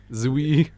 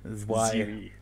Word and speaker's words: Zwei: Zwei. Zwei.